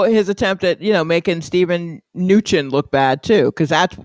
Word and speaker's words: Mnuchin: Yeah, Mnuchin. Not like minutia. Mnuchin. M is silent, even though it's the biggest. It's the only capital letter. Got you. Yeah, Stephen T. No M. Mnuchin.